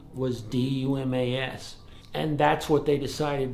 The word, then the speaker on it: Dumas: We've always heard it called Dumas. That's how it's pronounced in the United States. We actually had a family from Canada with that name here a couple years ago, and they said in Quebec it's actually pronounced Dumas.